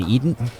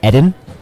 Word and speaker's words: Edden: That's one strategy that I implement occasionally against our good buddy Eden. Or Yes. actually, a quick correction here. Did you know that his name is pronounced Edden?